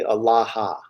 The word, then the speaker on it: Allaha: Um, yeah, in Aramaic it would be Allaha. They had the extra syllable.